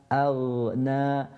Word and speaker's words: أغنى: This ghain is similar to what? The ghain that we done when we recited Surah Al-Fatiha. مغضو. And here is the exact same thing that we're doing. ما أغنى. So first from the bottom of the throat, and then the ghain from the top of the throat, أغنى, and making sure